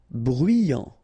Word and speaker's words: bruyant: Bruyant. Final T not pronounced. So you get bruyant.